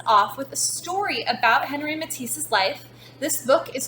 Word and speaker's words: Henri Matisse: This week we are learning about an artist named Henri Matisse, or if you want to pronounce his name the French way, Henri Matisse.